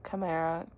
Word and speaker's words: chimera: Chamra chimera chimera. It's I always want to say the ch and I know it's it's kai.